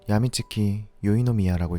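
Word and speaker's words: 闇月・宵の宮: 한자로는 어두울 암, 달월, 밤소, 집궁을 사용하고 일본어로는 야미츠키 요이노미야라고 읽습니다.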